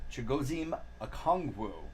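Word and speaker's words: Chigoziem Okonkwo: from the Saints Alex Pierce for Indianapolis uh chigozhim akongwu that is the right way to say it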